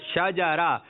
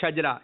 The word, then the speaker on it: شجرہ: یعنی شین پر زبر ہے, جیم پر بھی زبر ہے اور را پر بھی زبر ہے. ٹھیک ہے, شجرہ. کچھ لوگ کہتے ہیں شجرہ, شجرہ شریف, شجرہ شریف. تو یہ تلفظ صحیح نہیں ہے.